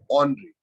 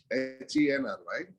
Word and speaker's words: henry: Actually, it is pronounced as Henri. Okay, French name Henri, Henry.